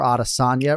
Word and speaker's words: Adesanya: conversation today because yes you can go audition or adasanya right but the one thing you cannot do is have the H sound I'm not talking to